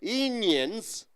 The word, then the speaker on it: Indians: So here, how do you pronounce Indians? After the ND comes, so D shouldn't be pronounced.